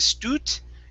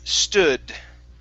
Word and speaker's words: stood: to the word stood give me a d sound here at the end instead of stutt it's stu stud uh-huh one more time stood okay very good next